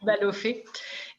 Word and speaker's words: Balloffet: you'll be love y lo vamos a decir en francés con la pronunciación francesa jacques baluffo y gracias al mando